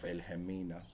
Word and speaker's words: Wilhelmina: Abo Wilhelmina, which was my grandmother's name, I'm assuming it's Afrikaans because balong W, but you pronounce it as V.